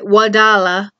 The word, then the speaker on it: Wadala: Wadala.